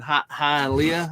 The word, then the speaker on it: Hialeah: there's that one that's actually technically in Hialeah, I guess is how you say it, down in Florida.